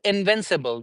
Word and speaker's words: invincible: Then how do we say it? Invincible. Subable. Invincible is wrong. Invincible. Subable. Uh. Then in even in the last vowel we will even in the last syllables we will say uh.